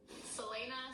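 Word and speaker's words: Celaena: main character I don't know how you actually pronounce the name let me look that up Selena San Selena San Selena I was thinking it was going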